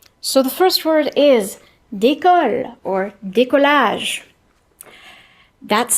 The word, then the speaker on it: décolle: Okay, so the first word is décolle or décollage. That's spelled D, E with an accent, C-O-L-L-E.